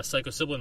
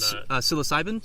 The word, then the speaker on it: psilocybin: got he gave the the the cast uh psycho siblin mushrooms for for one of the scenes and psilocybin sorry yesin wor I always mispronounce that word um psycho siblin yeah wow